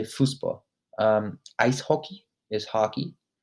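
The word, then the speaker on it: Fußball: characters in german that that looks kind of like a b but it's pronounced as a double s so it's fusbo fuspo that's how you'd say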